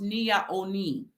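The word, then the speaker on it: Nea Onnim: that you see on the screen it is pronounced Nia Oni all right it is an indinkra symbol which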